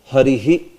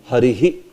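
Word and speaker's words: हरिः: Harihi. See, in the end, are you saying Hari ha or Hari he? It should be he. Harihi. Harihi.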